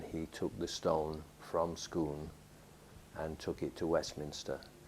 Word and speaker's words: Scone: from dunstaffnage and moved it to scone or scoon as the the must apologize to the Scottish people they it's written scone but they pronounce it skon scon yeah so it was moved to scoon and there's a there's a palace of scoon